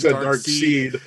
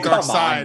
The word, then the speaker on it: Darkseid: because he's calling it Dark Seed. Did I say Dark Seed? He said Dark Side now. But it is spelled like Dark Seed. It is. That's true. But it's JTE. It is Dark Side.